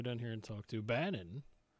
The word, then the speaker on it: Banon: here and talk to Bannon that rhymes with Ganon but is not the